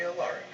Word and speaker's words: Alaric: You can call me Alaric. Or Sir Alaric, preferably. Alaric? Alaric. Alaric. Yes. Can you spell that?